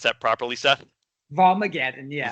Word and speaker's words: Volmageddon: How would you pronounce that properly, Seth? Volmageddon, yeah. Volmageddon.